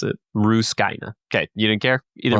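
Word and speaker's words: Rusukaina: his training arc with on an island called Ruskina, by the way, in case you're wondering how to pronounce it. Ruskina.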